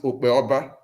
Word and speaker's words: Okpeoba: If you look at that in Benin, you pronounce it Okpeoba. Is that not? Okioba. Okioba in Benin. Yeah. You see, now you see our own dialect has dropped P and kept K.